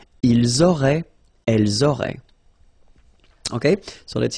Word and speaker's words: auraient: link, but then look, A-I-E-N-T like that, and you only pronounce E, like we had here. It will be exactly the same pronunciation here. Ils auraient, elles auraient.